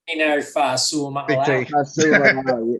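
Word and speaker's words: Tino Fa'asuamaleaui: Tino Fasuamiasale.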